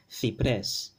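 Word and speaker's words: ciprés: Cipres, cipres, and remember that accent, cipres. Okay, this syllable here, pres, gets the accent or the stress.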